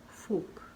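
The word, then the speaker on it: fork: जो कांटा होता है उसे हम कहते हैं फोक।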